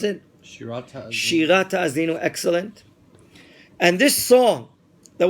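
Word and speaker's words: Shirat Ha'azinu: Can you pronounce it? Shirat Ta'azin. Shirat Ta'azinu, excellent.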